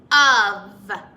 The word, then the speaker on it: of: whole thing is tricky it looks like it would be off off but that word is spelt differently the word off is spelt with two f's this word is of both letters are tricky i hear when i hear the word of i hear uh and but that's not the way it's spelled it's spelt o f of can you say of